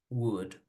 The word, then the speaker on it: would: ¿Cómo se pronuncian? Solo con la U y la D. Should, could, would.